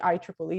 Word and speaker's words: IEEE: who are not familiar with the organization the ieee is actually the way we pronounce it and it's the institute electronic and